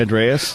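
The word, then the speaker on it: Andrés: Andreas.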